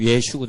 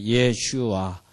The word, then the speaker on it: 예슈아: 다 틀리죠 사실이 그 예수라는 이름을 미국에서는 지저스라이팅 아니지만은 이스라엘 가서 예제 예슈 예슈 이렇게 얘기하면은 이것은 굉장히 그 분리됐다 저주받았다는 뜻의 상징 용어입니다 이게 그러니까 예수라 그러면은 좀 코웃음 쳐요 근데 그 사람들한테 예수를 예수를 설명하고 싶으시면 이렇게 말씀하셔요 예슈아 이렇게 설명해야지 그 사람들이 이해합니다 이것이 예수입니다 물론 우리는